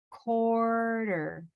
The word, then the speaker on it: quarter: that's well put so where the u is like a w and the q is like a k right so we could